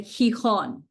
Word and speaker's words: Gijón: But before an E or an I, it makes a H sound. So for example, Ángel. Okay, Gijón, city in Spain.